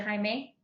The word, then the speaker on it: Jaime: have mispronounced your name is it jaime yeah it's okay okay i've been called jamie so it's okay probably but i prefer